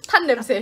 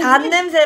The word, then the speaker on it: 단: 탄 냄새. 탄 냄새. 단 냄새 발음을 단 냄새. 잠깐만. 단 냄새. D-A-N. Yeah, like sweet.